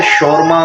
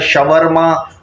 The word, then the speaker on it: शौरमा: और बाज़ लोग इसको कहते हैं कि शौरमा, कोई कहता है शवरमा, कोई शोमा। तो जो इसका जो बेस्ट प्रोनाउंसिएशन है ना वो है शौरमा।